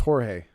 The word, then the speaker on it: Jorge: not pronouncing it wrong oh so it's Jorge is that right spelling it the same way it's spelled doesn't help okay all right so it is Jorge gotcha well congratulations Jorge